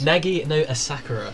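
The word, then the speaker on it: Nagi no Asukara: Shall I do the pronunciations? Yes, please. Nagi no Asakura.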